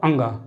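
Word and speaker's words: ङ: को अणा बोलते हैं, लेकिन इनका उच्चारण अलग अलग है। जैसे कि इसे हम बोलते हैं अंगा। जब हम इनका उच्चारण करेंगे क ख ग घ अण, बहुत से बच्चे अण बोलते हैं, फिर च छ ज झ अण, ट ठ ड ढ अण। तो ये जो इन तीनों को अणा अणा बोलते हैं हर वर्ग में, ये गलत है।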